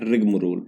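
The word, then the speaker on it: rigmarole: वो है रिगम रोल इसको बोलते हैं रिगम रोल ठीक है ए इसमें साइलेंट होता है यहां पे ठीक है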